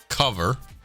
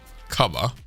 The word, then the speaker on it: cover: In the standard British accent, it is uncommon to pronounce the final R of most words. Rather, it is left open at the end.